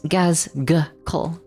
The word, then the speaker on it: Gazghkull: I don't know who Rylanor is, but this is how you spell Gazghkull. So it's Gazghkull. Gazghkull. Except the second G is silent.